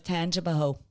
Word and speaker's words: Tangipahoa: Tangai paha. Y'all are overthinking it. For sure. It's Tangipaho. Tangipaho. Tangipaho. Tangipaho. Okay, we're definitely overthinking this. So ho is spelled HOA.